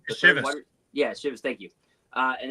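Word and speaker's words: Iosivas: Is it Andre Olszewski or how you pronounce his name? Shivas.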